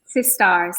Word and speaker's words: Sistars: Sistars, like a star. We're all stars.